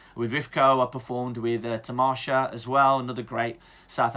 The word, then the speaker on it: Tamasha: I performed with Tamasha as well, another great South Asian theatre company in London. And then things started to dry up a little bit. Tamasha, it's Tamasha.